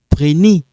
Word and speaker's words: prenez: Vous prenez.